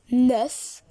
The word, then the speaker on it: neuf: The pronunciation is neuf.